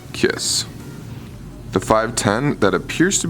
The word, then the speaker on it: Kaees: out the landmark by Kiss so here's the Box The Landmark comes in and I thought this was pronounced K when I first saw it but according to the manufacturer it's pronounced kiss so along with the